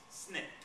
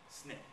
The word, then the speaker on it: SNCC: to form their own group that group became Snick that's how you say that you would not say the n CC people would either think you were a square or a Nar all right it's pronounced Snick Snick it stands for the Student Nonviolent Coordinating Committee